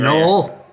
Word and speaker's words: Noel: Noel rhymes with soul.